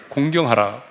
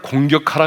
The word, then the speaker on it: 공경: 명령한 대로 네 부모를 공경하라 발음을 잘 해야 되겠어요 부모를 공격하라 가 아니죠 부모를 어떻게 하라고요 공경 하라 볼 수 요즘에는 공경하는